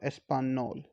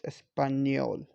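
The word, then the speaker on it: español: it sounds new espanol not no not espanol it's espanyol so new okay so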